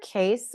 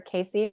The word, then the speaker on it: Cayce: Edgar Cayce, or Casey, however you want to pronounce it, has some really powerful teachings around color.